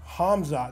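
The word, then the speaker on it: Khamzat Chimaev: huge card UFC card Cosmo is it comma Hamza so the K is silent Hamza chavaya right there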